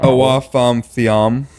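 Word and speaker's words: Awa Fam: Awaf Thiam. Yeah. I butchered that.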